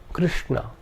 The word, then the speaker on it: Krishna: The second is a cerebral sh. This is the sh of Krishna. Krishna.